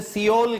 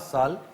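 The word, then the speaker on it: Seoul: इसके बारे में पहली बात यह है कि मोस्टली मिस प्रोनाउंस होता है हमारे यहां ये। इसे सियोल कहते हैं। ये सियोल नहीं है। ये सोल है।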